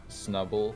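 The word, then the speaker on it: Snubbull: I don't know why, but for some reason, I always pronounced like Snubble, like Schnubble, with like a sh sound for the S for some reason.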